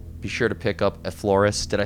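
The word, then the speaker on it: Effloresce: Be sure to pick up Effloris. Did I say it correctly or butchered that? Effloris? Effloris.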